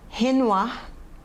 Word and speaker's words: Renoir: Pronúncia dos nomes: Renoir, Sisley, Cézanne, Monet, Klimt, Degas, Seurat, Gauguin, Toulouse-Lautrec, Munch, Vincent van Gogh.